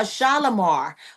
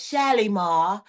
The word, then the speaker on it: Shalimar: A Shalomar or like one of my favorite creators says, Shalimar.